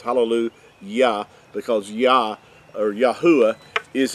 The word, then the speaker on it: hallelujah: English translations, halal, and it's got a J instead of a Y, but it's always still pronounced as hallelu Yah because Yah or Yahwh is his name.